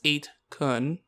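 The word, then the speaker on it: 8kun: listeners and my co-hosts i mispronounce eight kun yeah from the last episode you silly pieces it's with a it's with a soft you not a hard you hey so so it doesn't sound like a wrap i just really wish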